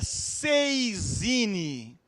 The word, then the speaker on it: saisine: talvez se recordem é 6 iene a gente escreve saisine né mas pronuncia algo parecido com 6 inec francês o que é esse